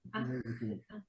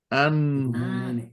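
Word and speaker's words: ἄγγελος: Que me diga lo primero cómo se pronuncia y qué significa. es. Ay, sí, permítame. Angelus.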